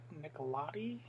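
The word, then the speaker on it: Nicolodi: lead guys and then daria nicolette nicholatti yeah that's how you say her name she's kind of our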